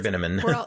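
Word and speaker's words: Binamin: Mr. Binneman rhymes with cinnamon.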